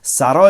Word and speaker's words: sarò: I will be, sarò once again, ciò, what respiri. You breathe. I will be what you breathe. Capirò che cosa hai dentro. All these future tenses with the accent on the last syllable.